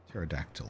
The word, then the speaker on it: pterodactyl: So it looks like one of those words where the P should be silent, right? Pterodactyl or knife.